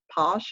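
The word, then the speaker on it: Pausch: his last name wrong randy um posh i believe it's p like p-a-u-s it might be c-h on the end um but he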